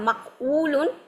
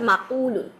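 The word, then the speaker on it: مَقُول: সো জিনিসটা হচ্ছে এর জন্য ওরা মাকউলুন, জিনিসটা উচ্চারণ করতে কঠিন, যার কারণে জিনিসটাকে ওরা ইজি করে বলছে মাকুলুন, ঠিক আছে।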